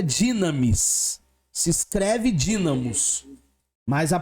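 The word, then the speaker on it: δύναμις: esse U aí é um Y Então se pronuncia dinamis se escreve dinamos mas a pronúncia é dinamis porque é um um é no no grego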